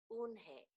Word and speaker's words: Unhei: joey your name is unhi he asked her with his eyes open wide oon hey look quickly at mr kim then to joey she nodded slowly yes it's pronounced unhei and it means grace mr kim added joey